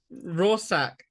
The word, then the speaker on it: Rorschach: they can't pronounce yeah rorsak you know like a raw sack of potatoes it really looks like